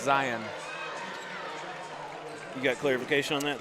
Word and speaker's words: Zion: It's pronounced Zion.